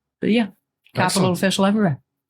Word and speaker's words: Cxpital: social media is that's capital official. It's CX Pi T A L official.